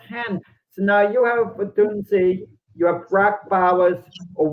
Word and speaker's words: Odunze: How do you pronounce his name? Dunze. I have a hard time. Sure, Rome Odunze.